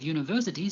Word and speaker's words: university: The U at the beginning of university sounds like U, a consonant sound. So we say a university.